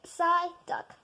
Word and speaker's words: Psyduck: Psyduck.